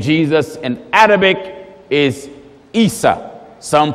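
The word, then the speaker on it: عيسى: you say the name Jesus in Arabic is ISA some pronounce it Esau that's right the way you say the name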